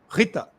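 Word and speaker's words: ऋत: tem um conceito que se escreve rta rta mas é um R com um pontinho embaixo em sânscrito que a pronúncia com ri Rita rit esse termo significa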